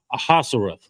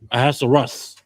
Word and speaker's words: Ahasuerus: How do you pronounce his name, Uriah? Ahasuerus. Ahasuerus.